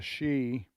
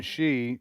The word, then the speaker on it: Xi: But one is President Trump is meeting with the leader of China, Xi. We keep saying Xi. It's X-I. That's the way you pronounce it.